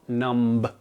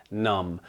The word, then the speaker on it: numb: list today is numb which finally enough rhymes with crumb and also amidst the B so again it is not numb it is numb like in the song the